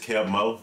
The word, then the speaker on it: Keb' Mo': actually a new artist uh how do you pronounce it though kev mo it's just kev mo kev mo yeah so it's kev mo tyler